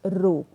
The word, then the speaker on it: rho: This symbol, this is a Greek symbol and is pronounced as rho.